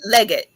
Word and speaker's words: Leggette: Is it, how you pronounce his last name? Legette.